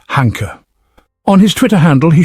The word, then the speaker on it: Hanke: His name looks like Hank, but everyone pronounces it Hanker.